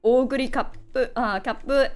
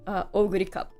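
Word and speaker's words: Oguri Cap: I did 3 temples, and I have Oguri Kappu and Simboru Rudolfi. I'm like, I played during the Japanese server, so all my pronunciation of the horses are very Japanese.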